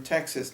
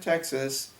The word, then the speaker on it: Texas: He said, every kid from Texas knows the words. The way Robert pronounced Texas It rhymed with sixes.